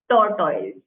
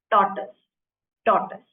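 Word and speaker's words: tortoise: toris crocodile or fish first of all the pronunciation of this word it's not torto it's torus torus okay may sound weird but it is the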